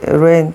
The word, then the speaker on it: reign: 에서 reign 다스리다. G 묵음이고요.